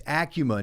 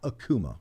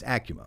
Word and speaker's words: ACUMA: And it's Acuma, not Akuma. That's right. I used to always mispronounce it. Akuma, but it's Acuma.